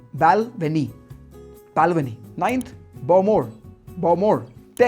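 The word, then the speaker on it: Bowmore: लफ्रोइग eighth is बालवेनी बालवेनी बाल्वनी ninth बोमोर बोमोर 10थ टैलकर टालकर 11th clean मोरंजी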